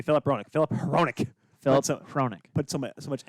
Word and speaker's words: Hronek: at Hickett, so I never hear the right pronunciation. If Zane says the right name, I don't hear it. It's Hronik. Hronik? Hronik. Yeah, Hronik? It's Hronik. Are you sure it's not Roenick?